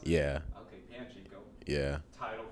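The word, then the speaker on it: Panchiko: But Pachinko, Panchico. Panchico. Panchico. Is that how you pronounce it? Yeah. Okay, Panchico.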